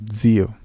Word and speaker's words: zio: el italiano, recordarás que la Z se lee como si fuera una D y una S. Lo zaino, lo zucchero y lo zio.